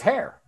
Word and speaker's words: hair: That's his hair. Right? That's his hair. Acuérdate, se pronuncia hair. He oído mucha gente pronunciarlo un poco raro, pero hair, que se pronuncia igual que liebre.